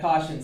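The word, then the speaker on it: cosh: people pronounce things differently I will call that caution cinch some people will say Kos some people will say other things hyperbolic tangent tan the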